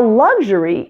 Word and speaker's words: luxury: it's just pronounced a just like the words turn and Thursday there is no you in this sound it's a to pronounce